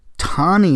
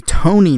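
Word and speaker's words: Tonie: first one was when I called the first libertarian vice presidential candidate tani Nathan when it's actually Tony Nathan it's mostly due to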